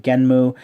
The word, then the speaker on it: Genm: But the way that it's spelled here in katakana makes it look like the N and the M are both meant to be pronounced.